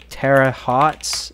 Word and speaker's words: Terre Haute: We have Terre Haute, I think that's how you pronounce it.